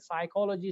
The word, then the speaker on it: psychology: The word psychology starts with P, but the P is a silent letter.